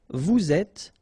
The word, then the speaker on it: vous êtes: Nous sommes, final S not pronounced, vous êtes, little liaison to be between the two and then final S not pronounced, ils sont, final T not pronounced, elles sont.